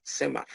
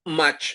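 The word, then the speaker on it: cmath: el la librería matemática cemap no es match así no se pronuncia match no es Maf Ok es el mismo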